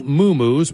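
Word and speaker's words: muumuu: The rest of the time, she could be seen in one of her many moo-moos, pronounced moo-moo.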